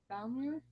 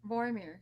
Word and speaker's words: Vormir: You know, Black Widow, and well, like wow, once it was her and Hawkeye going to Valmir, if I said that right. Boromir. Vormir, yeah, since I can't pronounce stuff.